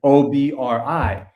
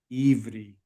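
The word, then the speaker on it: עברי: Even though that ion is an O, they say Ivri. Ivri. Not Obri, like it's spelled.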